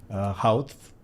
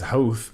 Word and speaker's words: Howth: I think that Howth. Well, that's how most would attempt it, but it is Howth is how the intended pronunciation of that.